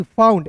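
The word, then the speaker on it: found: एफ ओ यू एन डी फाउंड, एफ का फ, ओ यू एन डी है दोस्तों, इसका उच्चारण आउंड के रूप में करेंगे। तो देखिए ना फाउंड पढ़ेंगे, क्या पढ़ेंगे दोस्तों, फाउंड।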